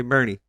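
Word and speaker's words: Boerne: born June 23rd 1970 in Bernie Bernie Texas yeah but grew up in New Mexico b o e r NE yep I pronounce it right make sure to say Bernie perkal yeah she Charmaine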